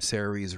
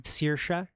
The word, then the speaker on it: Saoirse: in what's her name, Sarah Rees Ronan as Mary Queen of Scots, another historical drama. Saoirse Ronan. How do you say her name? Saoirse.